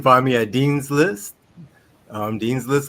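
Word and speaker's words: Dean's Lyst: Dean's List, like you're on Dean's List at school, except List is spelled Lyst.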